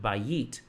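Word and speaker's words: בית: So B-A-Y-I-T, leaning on the first syllable, it's not bayit, but bayit. Bayit. Bayit. So think of a bite of food. That'll keep the timing correct.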